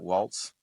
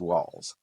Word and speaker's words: Walz: Not Waltz. I think it's Walz.